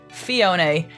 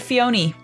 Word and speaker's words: Phione: name comes from a combination of the last syllable in mana fee fee and clione a phione there you go also I used to always call it Fiona but that's not why it's called apparently let's